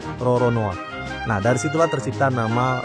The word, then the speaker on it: Roronoa: tahun 1600-an frcoa lolone kalau diserap ke dalam bahasa Jepang pengucapannya itu jadi Roronoa Nah dari situlah tercipta